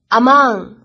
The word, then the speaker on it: among: among 这个单词注意一下它的发音，重音啊是在后面的。